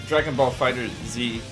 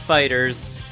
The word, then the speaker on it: FighterZ: It is Dragon Ball Fighter Z. I messed up. You don't pronounce the Z. It's just Fighters, but it's a Z instead of an S.